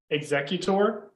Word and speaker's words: Exeggutor: that hold on oh help me out yeah exeggutor did i say it right i can't remember